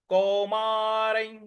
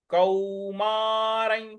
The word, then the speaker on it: कौमारं: देहिनोस्मिन यथा देहे कौमारं। कौमारं, क पर औ की मात्रा है। मां, र पर जो अनुस्वार लगा है इसका उच्चारण हमें य इस प्रकार से लेना है।